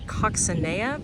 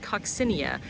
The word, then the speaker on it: coccinea: And then this is uh Salvia I've been calling it coccinea but I heard somebody else call it coccinia.